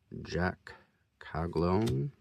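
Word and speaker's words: Jac Caglianone: Jack Caglone.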